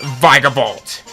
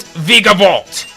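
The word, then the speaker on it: Vikavolt: we can encounter its evolution of it's pronounced vigor bolt i know i've been mispronouncing it from before but i will forever call it vegavault i have a bit of a story with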